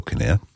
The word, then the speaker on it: Canare: buy a roll of, Canary or Kinnair, however you want to pronounce it, cable, which is Star Quad, and, a few bags of connectors and boom, you're off.